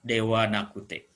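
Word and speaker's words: ではなくて: di tengah kalimat menjadi Dewa Nakute. Jadi Dewa Nakute, wa ini karena kata bantu dari Dewa Arimasen, ditulisnya tetap menggunakan H. Jadi ditulisnya menjadi DH Nakute. Tapi dibacanya Dewa Nakute.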